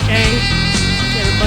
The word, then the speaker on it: Schjang: Shang. Schjang. It's got a couple silent letters in there to trip you up.